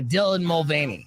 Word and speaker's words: Dylan Mulvaney: Mullaney? Yeah, Dylan Mulvaney.